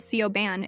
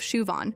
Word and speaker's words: Siobhan: There's Siobhan, who gets called Sioban instead of Shuan.